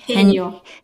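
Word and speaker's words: 해녀: another letter from the bureau, which is the haenyeo culture. I hope I pronounced that correctly. Haenyeo.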